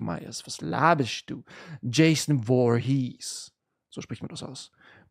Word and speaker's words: Voorhees: Jason Voorhees. So spricht man das aus.